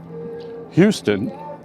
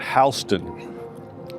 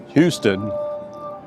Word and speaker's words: Houston: And his last name is pronounced Houston, not Hston. Get it right, New Yorkers. Houston, not Hston.